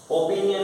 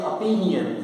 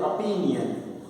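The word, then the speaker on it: opinion: ओपिनियन नहीं बोलेंगे, अपिनियन, इसको बोलते हैं अपिनियन।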